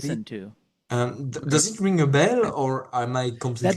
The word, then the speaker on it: Abel: By the way, my name is Abel, not Abel. So Thomas is right in that. Yeah, but oh, I'm saying it wrong? Yeah, Abel? Abel. Yes, that's correct. Abel.